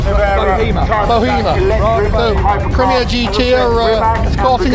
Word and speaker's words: Bohema: What's it pronounced? Bohema.